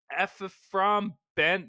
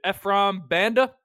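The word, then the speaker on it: Ephraim Banda: the brown safety coach ffr Ben I mean that butchered it Efram Banda okay we've got uh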